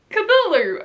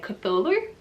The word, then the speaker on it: Cthulhu: a word it's just because that's how i pronounced kadulu originally because i didn't know how to pronounce it so it was because there's on the end but thankfully ash has taught me how to say cthulhu i hope right has he been leading me